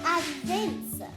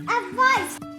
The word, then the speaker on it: advice: Because remember, CE says the S sound, soft C. At first I said advince. Yeah, but what is it? It's advice.